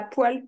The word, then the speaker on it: poêle: Et il y a des gens, je sais pas où dans la France, ils disent une poêle.